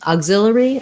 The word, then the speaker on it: auxiliary: you um are you asking about how to pronounce auxiliary verb or about auxiliary verbs i'm not sure um auxiliary i'll just do that in case that's what you're asking so auxiliary exilery it kind of looks like auxiliary but i